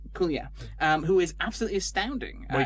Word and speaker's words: Kaluuya: But of particular note is obviously Viola Davis in the lead role, but absolutely everybody else, including is it Daniel Kalu? How do you pronounce his surname? Kaluuya.